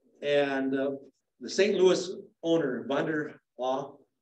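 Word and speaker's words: Von der Ahe: Louis owner, Vanderhaugh is how you pronounce it.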